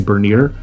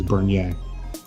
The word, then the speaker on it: Bernier: But of course, in the United States, they say would say Bernier, but the proper pronunciation is Bernier.